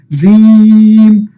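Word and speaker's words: جيم: অর্থাৎ আমাদের যে জিহ্বা আছে, এই জিহ্বার মধ্যভাগটা কোথায় লাগবে? উপরে তালুর সাথে। অর্থাৎ জিহ্বার মধ্যভাগ কোথায় লাগবে? উপরে তালুর সাথে লাগিয়ে উচ্চারণ করতে হবে কি? জিম, জিম, জিম, জিম, জিম, জিম।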